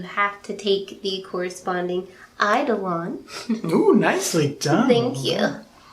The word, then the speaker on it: eidolon: uh the idol and you say it like is american idol on that's how you say it and so you